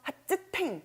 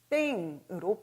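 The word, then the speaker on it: 発展: 자, 그런데 뒤에 탱이 왔습니다. 발전적이다 할 때 전자는 태라는 무성음으로 존재하거든요. 자, 따라서 이 츠의 발음이 무성음과 만나는 이 시점에서 하츠탱 하기가 너무 힘들었던 것이죠. 자, 따라서 스펠링이 초금으로 바뀌면서 핫땡으로 바뀌게 되는 것입니다.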